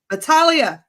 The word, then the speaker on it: Battaglia: The G is silent. Battaglia. Battaglia.